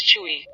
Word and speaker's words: Chui: Chui, pronounced like kui, with a forceful exhale, which is associated with the kidneys.